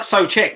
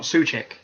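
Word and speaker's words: Souček: It's like Socek. It should be Socek and not Suchek. It's Socek.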